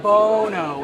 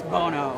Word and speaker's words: Bono: I am Bono. It's oh no, it's Bono. I gotcha, like pro bono.